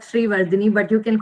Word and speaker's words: Sreevardane: bit tricky to say so it's actually pronounced that Shri Vini but you can call